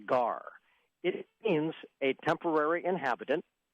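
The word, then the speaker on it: גר: 19:34 is the Hebrew word pronounced gar.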